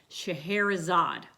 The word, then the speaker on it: Scheherazade: "Scheherazade," I said.